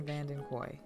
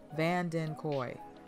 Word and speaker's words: Vandenkooy: we go today i sit down with vandenkoy vandenkoy van din koi i'm sorry i got your name wrong in the interview and i apologize so